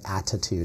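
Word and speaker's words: ADDitude: So that's spelled ADD, ITUDE. So instead of attitude, it's attitude, like ADD. With ADD.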